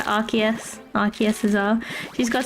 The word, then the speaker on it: Arceus: How do you pronounce Arceus? Arceus. Arceus. Not like Arceus.